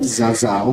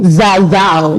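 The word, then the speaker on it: Zazzau: Did I get the pronunciation right? Zazao. Zazao. Yes.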